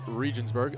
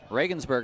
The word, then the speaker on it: Regensburg: Helmet played in the German baseball league for Regionsburg. Legionaire Regensburg my friend, I believe. Oh, thank you. hard G.